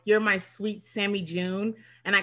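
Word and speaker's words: joon: nothing yeah yeah yeah june but it's spelled j-o-o-n that means deer in farsi and so i call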